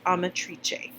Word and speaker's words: Amatrice: And we've talked a little bit about this in class, and I have totally butchered the name, but I just looked it up, and it's Amatrice. So, what you're going to